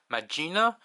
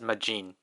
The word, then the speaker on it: Majin: She pronounces it, like, for the transformation, she pronounces it as Magina, and then for the finisher, she pronounces it as Majin. I don't really know what the difference is supposed to be.